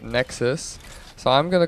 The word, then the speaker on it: Nexuiz: I've been calling it Nexuiz, but it really isn't pronounced like that. It's pronounced, well, it looks like it's pronounced Nexuiz by the way it's being spelled, but that just sounds kind of gay. And I'm pretty sure the developers actually call it Nexus.